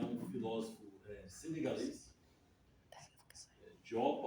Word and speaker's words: Diop: Ele é um filósofo eh senegalês, Diopa ou Diop, né? Fala português. Então, tradução, a pronúncia mais correta seria Diop.